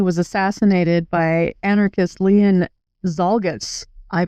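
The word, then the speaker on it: Czolgosz: Anyway, at the exposition, President William McKinley was assassinated by anarchist Leon Zalgus. I pronounced that right.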